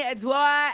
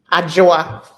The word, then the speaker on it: Adwoa: Unmute yourselves, Attorney Adwoa and Raunaq. Okay, wait. First of all, give me proper pronunciations. Adwoa.